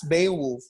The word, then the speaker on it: Beowulf: a wolf it's beowulf the little sound may be there but it's not a strong or a dominant dominant consonant sound it's a very subtle